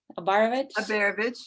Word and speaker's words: Abaravich: So, Beth Abaravich, am I saying it right? Abaravich, yeah.